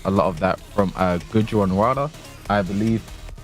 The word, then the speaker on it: Gujranwala: Spag's been teaching me a lot of pronunciations. I hope I got that one right. How did you say it? I'm not going to say it again, just in case I go wrong. Gujranwala City. Yeah. Gujranwala.